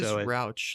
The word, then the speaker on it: Rauch: I think it is Rauch, like ouch.